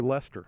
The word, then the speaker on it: Leicester: probably butchering that but I think it may be Leicester that's true even though it's spelled why sister yeah I think I pronounced like Worcester so leister sauce Leicestershire